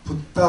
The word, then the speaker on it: 붓다: 갈까 는 인동 발에서 부천시 일대 지금이 와 붓다 라고 발음합니다 바라구요 부처님 요 그 달아오른 말을 지금으로부터